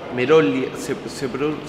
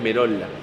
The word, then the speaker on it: Merolla: Merolia. ¿Cómo se pronuncia? Merolia. Merolia. Sí, Merolia. Igual en italiano, como es italiano, es Merola.